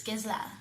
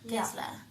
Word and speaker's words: Gisela: It's written out Gisela or Gisela for some, but the pronunciation for you is Gisela. Gisela.